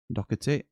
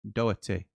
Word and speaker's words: Doherty: As an Irishman, there's no C pronounced in Doherty.